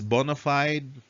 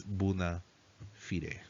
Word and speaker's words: bona fide: would pronounce it as bonafide some would pronounce it as buna fire it means in good